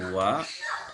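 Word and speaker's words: は: Jadi kita ingat kata bantu wa ini ditulis dengan huruf hiragana H ya, dengan huruf H ini. Tapi dibacanya wa ya.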